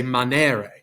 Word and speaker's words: manere: long and short sounds on the left you have the long e that makes the sound of the e and they and bake it's an a sound right so in latin we'd say manere right that that green